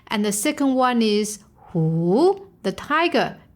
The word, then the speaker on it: 虎: And the second one is who, the tiger. It is in falling and a rising tone.